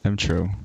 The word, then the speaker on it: emTr0: making this really complicated it's a read it phonetically mo mmm true oh is it just true yeah what does it look no no it's M true what does it look